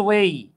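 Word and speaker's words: weigh: আচ্ছা, অনেকে এটাকে ওয়েট বলতে পারেন, এটা কিন্তু ওয়েট না। হ্যাঁ, এটা উচ্চারণ হচ্ছে ওয়েই।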